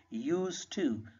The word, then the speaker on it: used to: Keep in your mind, in used to your D is silent, you will pronounce it used to.